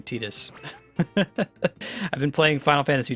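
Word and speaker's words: Tidus: tetus welcome oh that's right I have to pronounce his name tetus I've been playing Final Fantasy 10 on stream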